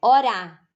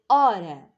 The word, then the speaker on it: hora: agora a próxima hora a hora e não falo orar né eu falo hora tu tem quantas sílabas